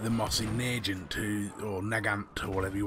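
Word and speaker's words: Mosin–Nagant: this weapon off completely, as something like the Mossy Nagant, or Nagant, or whatever you want to call it. Mousy Nagant, as I've been told to pronounce it, as just fluff to make you pre-order Battlefield 5.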